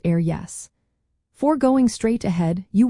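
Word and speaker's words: ar dheis: pronounced air clay, and ar dihis, meaning on the right, pronounced air yes.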